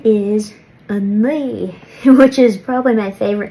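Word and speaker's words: a naoi: 9 is a ni, which is probably my favorite number to say. So the trick to saying this number correctly is it's somewhere between a ni and a nui.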